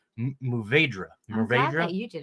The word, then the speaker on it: Mourvèdre: I can never pronounce this correctly. Mourvèdre. I'm glad that you did it, not me. Mourvèdre.